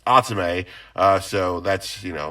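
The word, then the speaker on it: Athame: is spelled a t h a m e pronounced atsume uh so that's you know a little clarification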